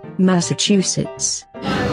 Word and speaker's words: Massachusetts: there is massachusetts here's how it should be pronounced massachusetts massachusetts massachusetts massachusetts massachusetts massachusetts and the